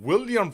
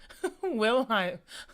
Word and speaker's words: Wilhelm: Alfred Jodl, head of German Armed Forces Staff, and William Freak. No, Wilhelm. that does not say William. Fuck. Wilhelm.